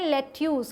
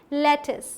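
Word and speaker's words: lettuce: Next is this one, जिसे कि हम क्या पढ़ लेते हैं, लेट्यूस, क्योंकि यहाँ पे यू है लेकिन इसकी सही प्रोनाउंसिएशन क्या है, लेटिस।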